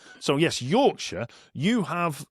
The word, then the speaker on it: Yorkshire: So, yes, Yorkshire, you have not fallen into the trap that a lot of Americans do and assume that the back half of that is Shire. Mm-hmm. Yorkshire. It's not. It's Yorkshire.